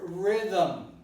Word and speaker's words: rhythm: I'm saying rhythm, but you don't see a vowel here between TH. So this is a cluster, right, that is difficult to pronounce. So the language has invented an artifice. The artifice is to introduce a vowel which is not there. And the vowel happens to be the neutral vowel, which we also call a schwa, right? And it's pronounced with more facility.